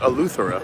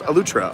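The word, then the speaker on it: Eleuthera: on a lutra uh spelled a lutheran but pronounced elutra on the island anyway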